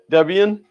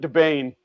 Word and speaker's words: Debian: on deb uh i-a-n how do you say that debian that's what i say i've always called it debain the bane of your